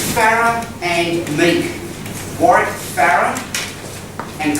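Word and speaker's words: Meeke: It's Farah and Meek. Warwick Farah and Kyle Meek, with a silent E at the end. M-E-E-K-E. Farah, as in Farah Foods.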